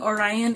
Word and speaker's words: Orion: And Orion, I'm guessing Orion is how you pronounce it because of Orion's belt.